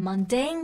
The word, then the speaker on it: mundane: 事情上面。Mundane, 这个单词有点像摩尔丹、蒙丹，但它其实指的是平凡的、实际的。